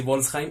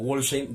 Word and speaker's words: Wolfsheim: Ellos lo pronuncian así, Wolfsheim, aunque también se puede pronunciar como Wolfsheim, dado que el nombre de la agrupación proviene del libro de El Gran Gatsby de Scott Fitzgerald, donde el protagonista Meyer Wolfsheim es el que está narrando la historia. Entonces tiene las dos pronunciaciones.